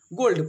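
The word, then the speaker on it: gold: नीचे दिया है कि जी ओ एल डी गोल्ड इसको जोल्ड नहीं पढ़ेंगे गोल्ड पढ़ेंगे क्यों क्योंकि हम ऊपर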